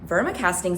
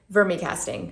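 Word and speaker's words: vermicasting: I was like well Verma casting's a thing for me casting not Verma casting You're Gonna Hear Me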